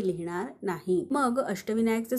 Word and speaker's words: अष्टविनायक: जसं की मी सांगितलं शब्दात शेवटी व्यंजन आल्यास त्याच्यापुढे अ चा उच्चार होत नाही म्हणून आपण के च्या पुढे ए लिहिणार नाही मग अष्टविनायकचं स्पेलिंग काय तयार झालं